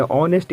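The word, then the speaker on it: honest: क्या आप जानते हो ओ से जस्ट पहले हा आया यहां भी हा साइलेंट होगा यहां भी हा को प्रोनाउंस नहीं करेंगे इसे हम लोग कहते हैं ऑनेस्ट आईटी मेंस होता है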